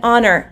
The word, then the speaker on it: honor: vowel sound so you would use an an honor anna it is an honor to be teaching